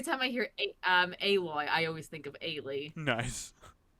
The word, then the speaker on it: Aloy: And then he brought up he's like this character is it's how is Aloy? It's not alloy.